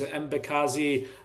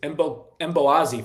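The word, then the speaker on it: Mbokazi: Mbakazi, oh my goodness, Mboazi, fun fact, don't pronounce the K, from Orlando Pirates.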